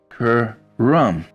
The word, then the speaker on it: Karam: It's pronounced karam with lesser emphasis on the ka. Karam.